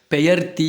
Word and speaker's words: பெயர்த்தி: அடுத்து பேத்தியும் கிடையாது, பெயர்த்தி அப்படின்னு சொல்லணும்.